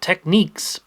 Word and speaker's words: Technics: And I have just such an example of that with this Technics RSTR 180 cassette deck from around 1996. Some people pronounce it Techniques, but regardless of how